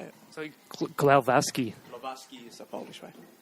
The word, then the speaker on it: Glowacki: I grew up in Australia where you'll say Glowacki, or you can be the Polish one and say Glowacki.